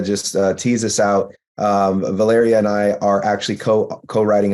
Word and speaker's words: Valeria: they call her Val they call her Valerie but the the pronunciation of my name is Valeria and it's spelled v-a-l-e-r-i-a